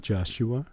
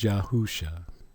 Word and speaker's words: Yahusha: his name is not joshua his name is yahusha you see they would